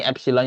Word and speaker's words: epsilon: ini D = EP E ini epsilon ya bacanya bukan EP dirifit juga epsilon tapi